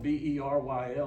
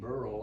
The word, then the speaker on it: Beryl: You know, it's spelled B-E-R-Y-L. I keep saying Beryl. I want to say Beryl, but they keep saying Beryl.